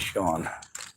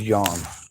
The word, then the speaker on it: Sean: you hear something else people get my name wrong I usually tell them my name is Sean with Raymond he always calls me John John John John John